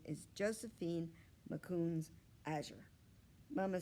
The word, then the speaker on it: Makoons: a little bear cub you say mccoons like this ma coons do you want to